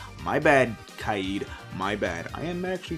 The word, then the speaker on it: Kaid: Further down, we have Kaid, which I was pronouncing wrong the whole entire time. I was calling the guy Cade. My bad, Kaid.